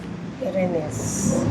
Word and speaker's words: Irene's: Like the English pronunciation. Irenes.